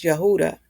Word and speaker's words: Yehuda: y h w d which is which is pronounced as Yehuda for we know Judah is the um his